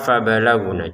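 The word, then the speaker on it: فَبَلَغْنَ: Fabalaghuna untuk ujiannya jangan kita membacanya itu huruf G dalam bahasa Indonesia karena itu terlalu kaku atau terlalu kasar ya. Jadi lebih dilembutkan. Fabalaghuna itu huruf tenggorokan bagian atas ya untuk G ini.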